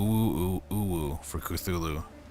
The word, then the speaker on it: Cthulhu: Woo woo woo woo woo woo for Cthulhu. Woo woo for Cthulhu. It rhymes.